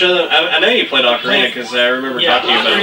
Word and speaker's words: Ocarina: I know you played Ocarina because I remember Yeah, talking about it at one Ocarina, point. or Ocarina.